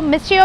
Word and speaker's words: Mistiio: वेसू में उनकी second branch है मिसियो, मिसियो भी बोल सकते हैं, टी साइलेंट है इनका।